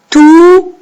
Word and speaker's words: tout: Tout. Hein, la lettre T qui est muette.